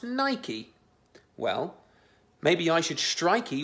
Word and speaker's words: Nike: Because apparently it's pronounced Nike.